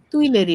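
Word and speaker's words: Tuileries: Ma'am, এর প্রোনাউন্সিয়েশনটা কি আছে? এটা হচ্ছে তুইলেরি বলে। টুইলারি, ওকে।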